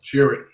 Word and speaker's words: Chirrut: How do you pronounce his name? Chirrut.